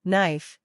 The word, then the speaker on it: knife: with the letter k whenever K comes before n at the beginning of a word it's silent for example knife NE no listen carefully